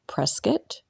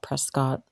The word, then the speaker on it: Prescott: After being in this town for a little while, I did realize the locals pronounce it Prescott, not Prescott.